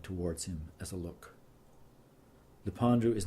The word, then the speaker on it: Lependu: That final syllable so hard in plain English Canadian. The narrowness of U, suggestion of a Z, Lependu. Say it like sipping very dry wine, perhaps with fingers clustered in the air.